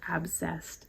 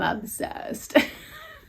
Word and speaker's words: obsessed: She also said obsessed, but they pronounce it abscessed. Yes, I am obsessed.